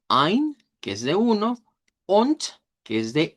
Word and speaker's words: und: Und significa y se dice con T, se cambia la D por T.